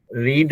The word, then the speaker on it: read: रीड होता ना, रीड और लीड जो है ना, दो वर्ड ऐसा है कि उसको आप जैसे उच्चारण कीजिए उसका ऐसा है, will he have, will he रीड, और उसको अगर फ्यूचर पास्ट में टेंस में यूज करना चाहिए, will he have रेड, READ, है ना? स्पेलिंग सेम है लेकिन उसका उच्चारण अलग हो जाता है ना।